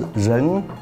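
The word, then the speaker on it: 人: Chinese pronunciation is Ren, the meaning is a person.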